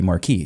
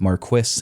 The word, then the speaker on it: marquis: Marquis is closer to German.